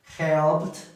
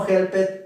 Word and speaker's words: helped: Entonces, washed, helped, watched, looked, liked. Okay, así va a sonar. No was it, no help it, no watch it, no look it, no like it.